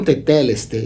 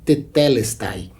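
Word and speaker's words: τετέλεσται: O termo teteleste, provavelmente ele é mais conhecido na sua pronúncia mais catedrática, que é tetelestai. Tetelestai e teteleste é a mesma palavra. São duas formas de pronúncia, duas formas de pronunciação do grego.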